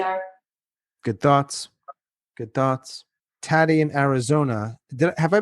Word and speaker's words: Taty: Tatty in Arizona. Did have I been pronouncing your name correctly? Tati.